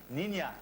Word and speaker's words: Niña: Comment on Jolie petite- prononce Niña, Niña avec la N tilde.